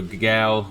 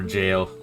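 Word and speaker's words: gaol: So gal or jail is G-A-O-L is Old English.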